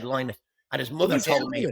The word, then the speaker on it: Lynott: Don't get me started on Lynott, Philip Lynott, whichever way it's supposed to be pronounced. Although he said Lynott, and his mother told